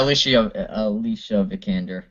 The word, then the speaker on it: Vikander: yeah, Alicia Vikander. I think that's how you pronounce Yes, it.